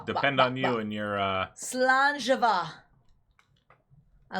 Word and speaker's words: Slàinte: Slàinte.